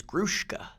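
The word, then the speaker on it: Gruszka: I've told everybody all my life it's Gruska. S-Z, Gruska. Okay. So you've told everyone that, but is it? There is allegations that it's Grushka. Grushka.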